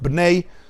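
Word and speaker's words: Bnei: a famous Hasidic work banay is how you pronounce it and what's this argument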